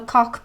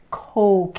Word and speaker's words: coke: can i have a cock please it is not spelled cock which is a male appendage it's coke it's a very long sound coke another word that